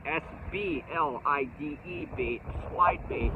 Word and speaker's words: SBLIDE: that we call the SBLIDE, S-B-L-I-D-E bait, SBLIDE bait. S for the spoon, B for the blade bait, and I, the I part, because it glides. So it rhymes with glide, I.